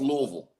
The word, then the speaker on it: Louisville: D let me ask you Louisville and it's pronounced Louisville okay so L Louisville Lou Louisville is the runner up to Duke